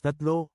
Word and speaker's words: tatlo: pronounce it as dalawa t a t l o is number three in Tagalog change a ah then pronounce it as that good job everyone let's